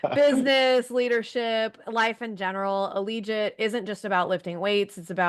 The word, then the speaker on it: Allegiate: Allegiate rhymes with collegiate.